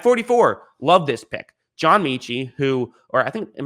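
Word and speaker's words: Metchie: might actually be pronounced metchy i've been pronouncing it michi this entire time i think it's might be metchy actually there is a t there so i guess that makes sense listen pronunciation not really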